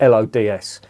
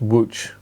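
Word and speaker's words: Łódź: there's a place name in poland called um it's spelled l-o-d-s that's not lods it's pronounced which so just so as you know whenever you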